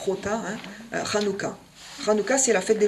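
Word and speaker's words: Hanukkah: octobre ensuite vous avez ranuka ranuka les haches souvent souligné se prononce comme la Rota espagnole Rota ranuka ranuka c'est la fête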